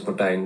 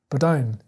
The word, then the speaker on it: Martijn: My name is Martijn Doolaard. Wow. He's saying P, right? He's saying Martijn. Martijn. His name is spelled M-A.